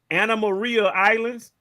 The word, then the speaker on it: Anna Maria Islands: hold on hold on how are you pronouncing that word say that word again Anna Marie Islands Anna Maria Islands I've been in Meridian